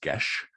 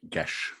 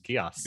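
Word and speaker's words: geis: sound yeah yeah um i gather it's an irish or gaelic word or celtic word or something um okay great fantastic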